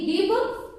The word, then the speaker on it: give: जब कभी बी के बाद अगर ई आए तो हम जो ई होता है वो साइलेंट हमारा होता है, उसमें हम क्या करते हैं, केवल बी का वा होता है, केवल हम उसे नहीं पढ़ते।